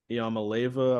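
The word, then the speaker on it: Iamaleava: Bama lost that last game by a field goal, and now Nico Iamaleva, I believe is how you say it, is going to be there, and he is going to be good, man.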